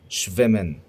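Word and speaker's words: schwimmen: جدا في الدروس اسمه شفمن يعني يسبح او يعوم تمام فاحنا خلاص كده اتفقنا ان الاس تها لما بتيجي مع بعضها بتتنطق شين قويه انا كريم بهاء وبعلمك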